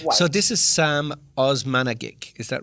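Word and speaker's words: Osmanagić: So this is Sam Osmanagic, is that right? Is that how I pronounce it? Yeah, Dr. Samir Osmanagic.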